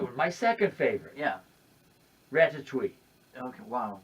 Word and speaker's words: Ratatouille: Ratatouille. Okay, wow. What a accurately French pronunciation.